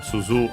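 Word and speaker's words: すず: Uh suzu unaccented means bell, often globular.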